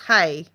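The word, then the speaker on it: hej: In Swedish, it's hedge, pronounced hey.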